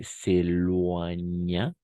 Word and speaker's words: s'éloigna: Puis elle descendit du champignon et s'éloigna, O-I toujours roi, G-N toujours N.